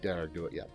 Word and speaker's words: Dearg Due: second one, but the second one how'd you pronounce it? The Dearg Due? Dearg Due, yeah.